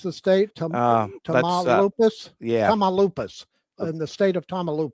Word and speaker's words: Tamaulipas: And that that was the case in uh how do you pronounce the state? Tamaulipas? Tamaulipas.